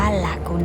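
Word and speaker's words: Lagune: ร้าน นี้ เลย จ้ะ อ่าน ว่า ลากูน นะ คาเฟ่ นะ คะ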